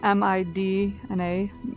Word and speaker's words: Midna: Is her name Midna or Minda? Well, it's spelled M-I-D-N-A, Midna, Oh, but okay. usually when you pronounce it, you end up kind of not enunciating the D very much.